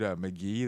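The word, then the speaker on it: Mk.gee: You know that dude McGee, that singer McGee. No. Okay, he just some. He's some crazy musician. His album was fucking hitting McGee? this week. It's spelled like MKGEE.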